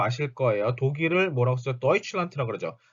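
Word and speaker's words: Deutschland: 도이칠란트라고 그러죠. 자, 도이칠란드라고 쓰는 경우 있어요. 아닙니다. 요거 뒤에 맨 끝에 나오는 D는 T 발음이 되기 때문에 도이칠란트가 맞아요.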